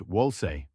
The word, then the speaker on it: Wolse: Wolse, pronounced Wolse, works more like Western renting, a smaller deposit plus monthly payments.